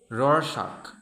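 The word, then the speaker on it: Rorschach: essential but not sufficient next uh R the pronunciation shocking Roar shock Rood test meas intelligence attitude aptitude personality personality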